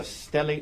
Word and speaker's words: stellate: And you refer to it as a stellate laceration. Is that right? Yes. And am I pronouncing that right?